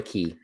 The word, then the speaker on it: Cay: Is it It's spelled Castaway Cay. Yeah, but it's Castaway Cay. Why? Why? Because it's a Caribbean man. I'm calling somebody on this. That's how you say it.